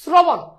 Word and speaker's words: শ্রবণ: ওই যে রফলা থাকলে উচ্চারণে শ্র, শ্রনা, শ্রবণ, শ্রবণ। দেখো ওকার কিন্তু উচ্চারিত হচ্ছে, তাহলে শ্রবণ, শ্রবণ, শ্রবণ, শ্রবণ, শ্রবণ।